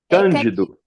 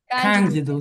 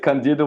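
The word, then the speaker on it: Candido: Is this Kjidu? Kjidu. Kjidu. So it's the first syllable. Okay. Thank you very much. But it was great. Kandidu was great as well.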